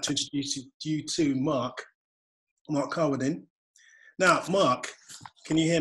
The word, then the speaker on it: Carwardine: How do you pronounce your surname? Carwardine.